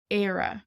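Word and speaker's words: Éire: resource so Ireland on its own is is era so for example if you were listing countries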